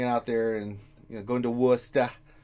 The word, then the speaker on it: Worcester: I've been, hanging out there and going to Worcester. Worcester, not Worcester.